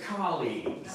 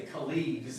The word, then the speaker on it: colleagues: I was going to say, first of all, everybody say colleagues. Colleagues. Yeah, so the first syllable. Sometimes I hear you guys say colleagues, and that's a different. Yeah, that sounds like something different.